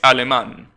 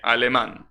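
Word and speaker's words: alemán: mean sherman is alimon is aleman that's how you say it almost just drop the ghost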